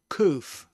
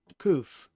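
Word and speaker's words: קוף: So it is koof, koof.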